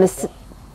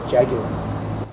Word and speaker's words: Jaguar: In 1955, there was a lot of anticipation for Jaguar with its D-Type and Jaguar. What would I say? You said Jaguar. What is it? Jaguar. Jaguar. Jaguar is what Americans say.